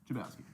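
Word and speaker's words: Chlebowski: Ethan, how do you pronounce your last name? Chabowski. Ethan Chabowski is here. Today we are joined by Ethan Chabowski. Did I say it right? You did.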